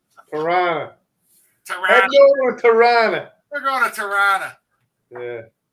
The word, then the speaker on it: Tirana: And hopefully this summer, I may pass by and see you and your mom on the way to Tirana. Oh, boy. Tirana. Isn't that how Americans say it?